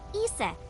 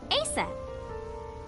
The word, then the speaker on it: Isis: Horus's mom is named Isis. But in ancient Egyptian, it's pronounced closer to Iset or Aset.